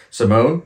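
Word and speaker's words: S1m0ne: Next up number six this the wording and everything is so weird for this one but apparently the actual title the pronunciation is um Simone.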